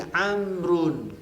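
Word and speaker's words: عمرو: Alasan yang agak serius kenapa Amr itu ada wawunya, untuk membedakan antara Umar dengan Amr. Umar dengan Amr gitu ya. Kalau ada wawunya berarti Amr, mimnya mati, Amrun.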